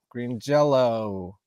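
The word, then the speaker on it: Green Jellÿ: Evil Green Jelly with umlauts over the Y, pronounced Green Jello with Lita Ford, George Lynch.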